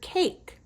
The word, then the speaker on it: cake: Now, here's two things that have a silent e at the end of their word. Do you see that number nine? The way you spell it is with a little silent e at the end. And same with the word cake. At the end of the word cake, there's a silent e. It doesn't make a sound in that word when you're reading it.